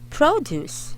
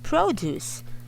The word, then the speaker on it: produce: two syllables uh but the intonation or the stressed syllable for the gulai or the fruits is on the first syllable it's produce so this sounds higher produce a second syllable stress okay produce this one